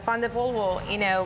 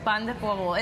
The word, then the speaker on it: pan de polvo: My husband's grandmother, had a pan de polvo, recipe that she had. I'm a white boy. Slow that down. Say it one more time for me. Pan de polvo.